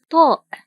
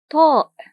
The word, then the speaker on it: طاء: The first one is called Ṭāʼ , Ṭāʼ . And here’s its shape. The sound is [Ṭ], [Ṭ]. It's one of the emphatic sounds [Ṭ], [Ṭ].